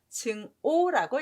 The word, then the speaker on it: 증오: 있습니다 여기에서 주의할 점은 아카락자가 미워할 오라는 발음을 한다는게 좀 중요해요 발음 두 개라는 거에서 증학이라고 잊지 마시고 증오라고 읽으셔야 돼요 둘중을 보면 조개